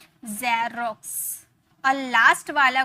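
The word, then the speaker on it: Xerox: यही तो हम लोगों ने सीखा ना कि अगर लास्ट में आया तो उसे कस में प्रोनाउंस करेंगे और अगर शुरू में आया तो उसे ज में प्रोनाउंस किए, तो जेरोक्स, जेरोक्स, सॉरी जेरोक्स।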